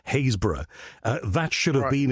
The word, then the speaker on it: Happisburgh: So, that that should have been and the the pronunciation, I've just checked it, is Happisburgh.